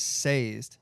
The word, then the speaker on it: Sazed: Third book was seized or sazed.